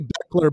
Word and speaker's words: Bechler: uh we'll do that but it's actually Beckler but my my first name is actually spelled different than most and my last name is pronounced differently than it looks so people always mess